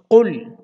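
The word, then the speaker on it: قُلْ: কফ lamp পেশ কুল। কফকে কিন্তু শুদ্ধ করে উচ্চারণ করতে হবে, কুল বলা যাবে না।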